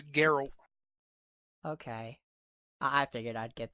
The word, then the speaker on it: Geralt: Is it Gerald? Is the T actually Geralt. a D? It's Geralt.